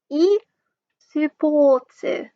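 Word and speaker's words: eスポーツ: So this is pronounced E sports.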